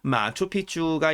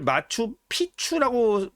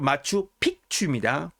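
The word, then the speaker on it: Machu Picchu: 페루의 한 주의 이름이자 도시의 이름이면서 마추픽추가 있는 곳입니다. 마추픽추. 네. 요즘 그 마추픽추를 마추피추라고 발음하시는 분들이 많이 계세요. 이렇게 잘못 표기하시는 분들이 계셔서 그런 거겠죠. 스페인어로 마추픽추입니다. 픽추. 예, 기억 받침이 있어요. 마추픽추.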